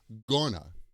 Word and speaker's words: going to: We usually use the quick pronunciation, which is gonna.